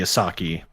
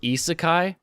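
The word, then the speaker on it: isekai: on the uh the asaki genre oh yeah it's pronounced isakai i never do that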